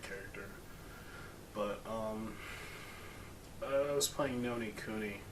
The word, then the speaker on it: Ni no Kuni: But I was playing Nino Kuni. Ni no Kuni. Ni no Kuni. I always say it wrong. So many ends.